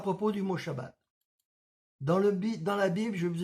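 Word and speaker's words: שבת: En hébreu se prononce bien Shabbat, car c'est la lettre shin qui était employée et non pas la lettre sin.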